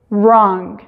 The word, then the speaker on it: wrong: suena un poquito diferente no se escuchan la w pero cambia el sonido de la r entonces es rights rights de escribir no tiene el sonido pero la forma de nuestra boca la hacemos como si fuéramos a hacer pero nada más conocíamos wright wrong entonces en esta combinación la w es muda cuando la w está